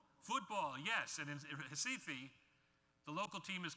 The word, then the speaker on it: Recife: And this was done, and done very successfully in a campaign in Brazil, in the town in the red box there, pronounced in Portuguese, Recife.